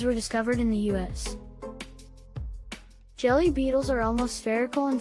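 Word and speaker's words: Gelae: The naming scheme for several species in the genus Jelly, pronounced jelly, was conceived as a whimsical arrangement of letters.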